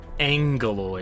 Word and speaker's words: Agoloi: Agoloi, but they pronounce it as Angoloi, as if there's an end there. Not an end there, an N there.